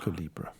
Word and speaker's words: Kulebra: Remind us how how are we pronouncing this again? Libra. Calibbra.